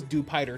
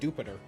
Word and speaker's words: Jupiter: I thought it was Dupiter too, but no, they've said Jupiter in the anime.